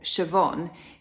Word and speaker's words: Siobhan: Irish names for example Siobhan is spelled in a way that you wouldn't necessarily pronounce it so the B and the H in the middle of Siobhan is confusing for the first time that at least my dyslexic brain saw it you can use the